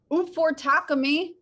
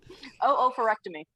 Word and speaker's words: oophorectomy: Abby gave me some medical terms to pronounce. One is oophorectomy, which is removal of an ovary.